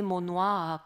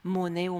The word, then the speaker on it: monnaie: mot qui est intéressant pratiquement aucun indice qui nous permet de penser qu'il a pu être prononcé mont noir qu'à quelques périodes que ce soit en français donc on pense qu'il a été prononcé moneo mon nous et voilà pour monnet alors comment il a